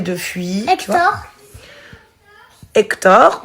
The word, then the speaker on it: Hector: Hector, oui, on l'entend pas, c'est un H muet.